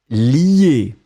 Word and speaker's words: lier: Donc on le prononce li, mais on va l'écrire L-I-E.